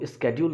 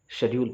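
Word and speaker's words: schedule: तो स्केड्यूल ना पढ़ें आप, शेड्यूल पढ़ें, इससे पहली बात। कोई भी डिक्शनरी आप निकाल कर देखिए, आपको ये प्रोनाउंसिएशन मिल जाएगा, right. Specially India British English के स्टाइल को फॉलो करता है, तो ब्रिटिश इंग्लिश में हम इसे शेड्यूल पढ़ते हैं।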